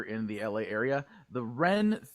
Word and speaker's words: Wren: the LA area the ren Theater which is spelled w-r-e-n the Wren theater presents Hollywood nerd nights